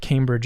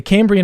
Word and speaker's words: Cambrian: said it wrong or I think I may have said Cambridge explosion the Cambrian explosion earlier or the Cambrian explosion that